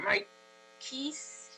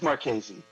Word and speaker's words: Marchese: Is that how you say it? Marchese. Marchese. I've heard worse, so I'm fine with it. But thank you for trying. I'm with you on that. My name always gets butchered by everyone. So, Dr. Davis. Okay, is it Marchese or Marchese? It's Marchese. Marchese.